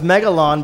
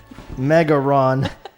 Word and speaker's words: Megalon: mega no but it's megalon but the box art from japan mega ron the l is not pronounced you know in japanese so they literally wrote our mega ron so i love it